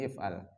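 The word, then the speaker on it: اِفْعَلْ: Bacanya if'al. Karena kalau ain fi'ilnya itu fathah, maka hamzah depannya itu kasroh.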